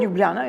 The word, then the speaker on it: Ljubljana: I'm going to, I'm going to see if I pronounce it right. Ljubljana? Ljubljana, yes, the capital, yes.